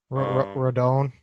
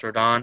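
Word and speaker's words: Rodón: back end i mean you either got kobach radon randon how do you say that oh yeah carlos rodon rodon um right now the lopez just got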